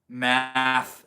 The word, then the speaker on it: math: Math temple, pronounced more like moth.